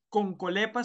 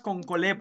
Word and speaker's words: Concholepas: universidad todos concholepas concholepas la pronunciación adecuada es con colep con colep esa es la pronunciación en latín del nombre científico pero aquí todo el